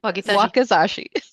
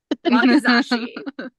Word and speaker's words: wakizashi: Weapons of choice include a katana and a word I should have learned to pronounce before we started. Wakizashi. Wakizashi.